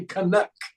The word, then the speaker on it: Canuck: is just fine but up here they'll say kanuck kanuck okay all right all right emphasis on the second syllable gotcha gotcha schw syllable